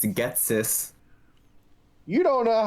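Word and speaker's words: Ghetsis: Yeah, Yeastus. It's Getsis.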